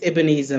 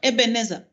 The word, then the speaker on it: Ebenezer: It's Ebenezer, my lady. Ebenezer. Okay, all right. That's the. How do you pronounce Ebenezer? However, my lady chooses. How do you pronounce it yourself? My mother says Ebenezer.